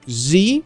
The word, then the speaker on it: Z: we've got a through z or Zed depending on how you like to pronounce that next up after that